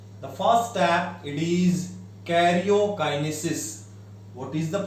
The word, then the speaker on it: karyokinesis: The first step, it is karyokinesis. What is the pronunciation?